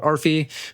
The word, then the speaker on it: Arphie: or if you're interested in learning more about Arfi, feel free to just reach out to me personally.